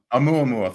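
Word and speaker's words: ʻOumuamua: And I can't pronounce it, but I think it's Avi Loeb's. Oumuamua. Oumuamua.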